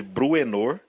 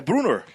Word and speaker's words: Bruenor: bru é novo que eu passei a minha infância inteiro chamando de bruenor é Bruno é como eu ouvi né então é Bruno